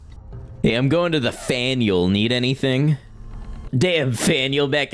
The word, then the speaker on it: Faneuil: It's pronounced like Daniel with an F. No, you're lying. It's not Faneuil Hall. No, they wouldn't do that to us. Hey, I'm going to the Faneuil.